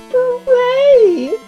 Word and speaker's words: beret: You're not supposed to pronounce the T! It's beret!